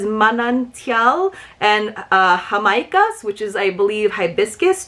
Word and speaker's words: jamaica: trying the sal de jamaica as a rim for margaritas. Yes, that sounds so good. I'm assuming it's Jamaica, not Jamaica, but it's spelled like Jamaica.